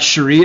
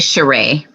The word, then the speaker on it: Cheray: times so i've got cherie is that how you pronounce it next actually cheray cheray yes my name is cheray i'm the founder of